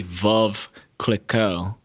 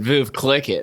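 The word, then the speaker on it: Veuve Clicquot: i kept uh pronouncing it's supposed to be valve click o and i kept saying voov boob clicking i kept calling yeah i kept calling it viv click it and i thought it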